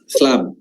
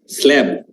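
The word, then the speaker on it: slab: দে স্লাব দে স্লাব স্ল্যাব স্লাব স্ল্যাব ঠিক আছে মানে বানান সেম ঠিক জানেন উচ্চারণটা ভুলভাবে করেন আর কি স্ল্যাব ওকে হ্যাঁ এখন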